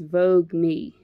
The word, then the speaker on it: Voogueme: some youtube videos and the way they pronounce it is vogue me v-o-o-g-u-e-m here we go